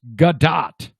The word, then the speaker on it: Gadot: The T on her last name is not silent. It's pronounced Gadot.